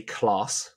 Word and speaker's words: Klaas: So today we are doing Corruptible by Brian, I'm going to say Klaas, is that how you pronounce it? I would say it like that, yeah. Klaas.